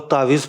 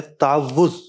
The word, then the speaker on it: تعوذ: کہتے ہیں تعوذ۔ تعوذ، بعض لوگ تعویذ پڑھ رہے ہوتے ہیں، بعض تعزیہ پڑھ رہے ہوتے ہیں، بعض تعوذ پڑھ رہے ہوتے ہیں، تلفظ ہے تعوذ۔ یہ لفظ جب بولا